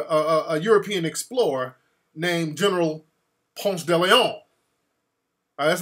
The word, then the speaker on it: Ponce de Leon: The name of the street is after a European explorer named General Ponce de Leon. That's like a French name. And that's the correct pronunciation is Ponce de Leon.